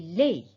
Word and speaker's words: laid: les vous voyez ici on écrit le d mais on ne prononce pas il est laid ou bien on dit